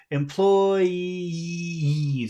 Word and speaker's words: employees: have one one f one syllable finishes with E the next syllable starts with e what does that mean what do you have to do you have so yeah we have to put extra sound that is a e yeah that should separate so it's employes it's very long a very long vowel sound at the end of that word especially because that final